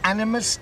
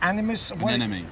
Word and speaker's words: anemone: Animus? Anemone.